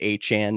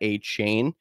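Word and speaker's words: Achane: did learn recently that his name is actually now pronounced aan not a chain he did change that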